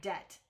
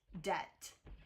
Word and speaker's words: debt: I don't hear the B. Debt de I don't know. B is not. I don't think I don't know. I would say it's a silent letter because they added it back in in the 1500s.